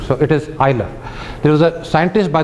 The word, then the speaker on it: Euler: It is pronounced Euler, not Euler. So it is Euler.